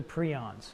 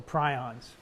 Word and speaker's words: prion: and these are the prions or prions depending on how you want to call it's a made-up word so you can pronounce it the way you want how do you pronounce the dr.